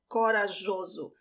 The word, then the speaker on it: corajoso: The J has this soft sound, jo, corajoso.